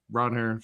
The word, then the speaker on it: Ranger: So, uh Ronair Suarez was like, "If you call me Ranger, it's fine, but it's Ronhair."